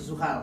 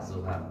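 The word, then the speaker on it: Zuhal: didalamnya ada saat guys Suhar Suhar begitu cara bacanya Iya jadi ya yang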